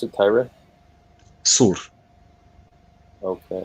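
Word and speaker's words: صور: Is that how you pronounce it? Tyre? Sur.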